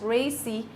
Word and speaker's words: RACI: A typical model used for this purpose is called RACI, pronounced RACI, which stands for responsibility.